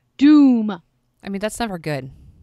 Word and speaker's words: Dume: hiding okay his name his name is caleb dume d um ii but it's pronounced doom I mean that's never